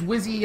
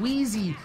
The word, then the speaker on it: Wizzy: felt bad because uh I was reading his name wrong it was really late and I was kind of drunk and his name is wizzy uh TK God but I was calling him Wheezy and I thought he